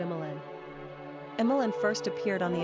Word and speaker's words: Emmalyn: Quick Facts ON EMMALYN GENDER: Girl ORIGIN: English NUMBER OF SYLLABLES: 3 RANKING POPULARITY: 455 PRONUNCIATION: EM-ә-lin SIMPLE MEANING: Emma + Lynn Characteristics OF EMMALYN